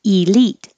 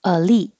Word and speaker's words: elite: You can say elite or elite. The stress will stay on lead. but some people keep the E pronunciation, elite, or change the E to because it's not stressed, elite.